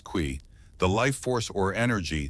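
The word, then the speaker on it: qi: At the heart of acupuncture is the concept of key pronounced qui.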